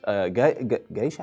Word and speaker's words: geisha: He's pictured with geisha. How the hell? Geisha? Yeah, that's how you pronounce it.